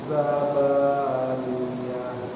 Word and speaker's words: زبانية: Kadang orang bacanya zabaniyah, niyah. Dia bukan niyah, tapi niyah. Niyah. Ninya hidung, yanya tidak.